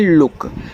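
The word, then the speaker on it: look: L double O के इसे पढ़ते हैं लुक। तो एल से आपका ल। डबल ओ से छोटा ऊ का मात्रा के से आपका का। ये ए आपका लुक हो गया।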